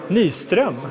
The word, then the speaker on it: Nyström: So, I am here with uh Nyström because that's how you say it in Swedish.